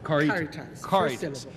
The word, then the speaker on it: Caritas: Caritas. It's very difficult. I want to give it a Spanish pronunciation. But don't. But It's don't. Latin. It is Latin.